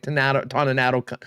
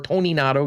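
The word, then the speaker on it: Toninato: that will probably include dominic tanatanato or tony nado excuse me i know he's got a new pronunciation this year maybe just clarified this year uh will be part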